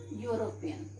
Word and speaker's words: European: Okay, like for example, European. He is a European. Now children, it is starting with E, but if we will pronounce, this word will come. Okay, you will come, and you is a constant sound.